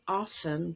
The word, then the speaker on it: often: may be familiar that in the word often t is silent in standard english and also if you